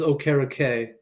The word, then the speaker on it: Okereke: It is Okereke. Okereke. Yeah. So I think you did get it right. But drop the T.